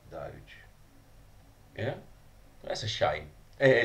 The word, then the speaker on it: Doge: Just to clarify something, actually, someone I know actually emailed Congrevape and confirmed that it's not Doggy, which I'm really disappointed by. It is actually pronounced Doge.